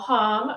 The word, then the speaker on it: Hom: But yeah, to give you a little background, so Hom rhymes with mom is the way I like to say it, but I'll answer to just about anything.